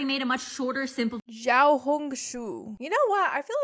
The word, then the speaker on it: Xiaohongshu: There's a more detailed video on how to pronounce the actual name of the Rednote app. It is Xiaohongshu. I already made a much shorter, simple Xiaohongshu.